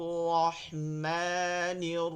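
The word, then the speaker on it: الرحمن: হবে বিস বিস বিসমিল্লাহির রাহমানির রাহিম ওই যে হা বলছিলাম এখানটায় এটাকে চাপায় নিতে হবে রাহ বাতাস বের করে নিয়ে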